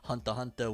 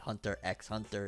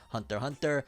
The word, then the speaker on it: Hunter x Hunter: people said it's like hunter hunter where the x is silent it's not hunter x hunter it's just hunter hunter spy family because here